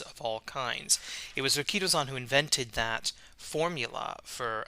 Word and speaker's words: Rikidozan: He started wrestling 62 years ago, as of 2022, as a disciple of Rikito-san, or Rikidozan if you want to mispronounce it, and who is pretty much the founder of professional wrestling in Japan.